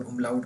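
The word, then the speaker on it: Umlaut: तो पहले हमने इसको आ पढ़ा था, इसके ऊपर ये दो नुक्ते लग जाएं, इसको कहते हैं उमलाउट। मैं इसको स्पेलिंग लिखता हूँ, इसको हम कहते हैं उमलाउट।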